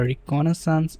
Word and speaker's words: reconnaissance: Looking at the phases of ethical hacking, we can place GoBuster between the reconnaissance and scanning phases. So, between scanning and reconnaissance, how do you pronounce this?